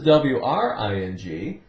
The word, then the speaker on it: wring: But this is W-R-I-N-G. It's the same sound, ring, because W is silent.